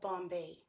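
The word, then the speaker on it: bombé: There is a brand of bombe, which is the Bombay company that started, I think it was 1978 down in New Orleans, I think.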